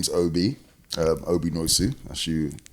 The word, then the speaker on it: Nwosu: to so um my name is Obi Obi noisu as you correctly pronounced earlier and I am one of the